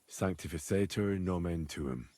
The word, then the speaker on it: sanctificetur nomen tuum: You're saying it wrong. Listen. It goes like this. Pater Noster, qui es in caelis, sanctificetur nomen tuum.